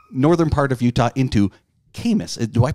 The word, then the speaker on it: Camas: Coming in from northern part of Utah into Camas. Do I pronounce it right?